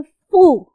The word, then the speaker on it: pho: उस ऑथर ने basically describe किया है वियतनाम का एक बहुत स्पेसिफिक सूप जिसको कहते हैं फू. फू जो है उसकी प्रोनाउंसिएशन FEU है, फू, राइट.